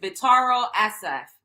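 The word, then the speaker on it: Vittorio Assaf: See, Aoki Lee Simmons getting close and cozy with Vitaro Asaf. That's how you pronounce it.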